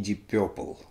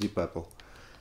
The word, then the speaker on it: Deep Purple: Будьте осторожнее, потому что Deep Purple — это не Deep Purple. Это гораздо мягче произносится Deep Purple.